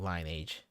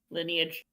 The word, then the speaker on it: lineage: Happy I could play a role in your dirty stinking line age. Lineage. Lineage. My bad. I was thinking of an old game that is spelled line age.